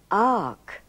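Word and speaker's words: fharc: is aspirated it becomes Ark in other words the f is silent farc becomes Ark so you treat it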